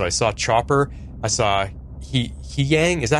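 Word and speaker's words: Huyang: So I saw Chopper, I saw He Yang, is that how you say it? He Young? Hugh Yang. Hugh Yang. It seemed like every character was pronouncing it differently in the show.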